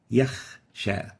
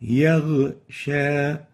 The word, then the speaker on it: يغشى: We have a ghain here, and instead of pronouncing yaghsha, we pronounce yakh, yakhsha. This is wrong. The right way of pronouncing it is يغشى yaghsha. So we shouldn't replace the ghain with a kha.